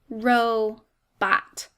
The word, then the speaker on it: robot: notice it's two syllables the first syllable rho is an open syllable making that long o sound and the second syllable bot is closed in by that t making a short o sound row bot we have